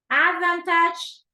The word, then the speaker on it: advantage: okay the preposition there Advantage Advantage okay second syllable is a stress right advantage and then reports no